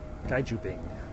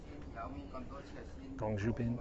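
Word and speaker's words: 公主病: Did I pronounce that right? Gaijubing? Gongjubin? Gongjubin. Gongjubin. It's Gong, isn't it?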